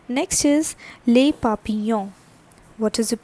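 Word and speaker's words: papillon: right next is lei papiyan what is the pronunciation this is papiyong so always this double l is not for nouns and the pronunciation is papiyan all right so s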